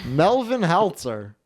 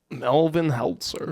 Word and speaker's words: Melvin Heltzer: That's how you gota No, you can't say it like that. You got to say it. Melvin Heltzer. Melvin Heltzer. Melvin Heltzer. Yeah. Yeah. You really got to pronounce the Melvin.